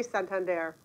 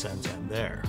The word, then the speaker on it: Santander: this whole notion of how do you say Santander? And we knew early on that people were having a hard time with the pronunciation, so we decided we were going to have some fun with it.